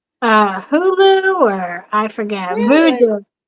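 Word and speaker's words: Vudu: Voodoo. I think it's called Voodoo, but it's spelled V U D U or something.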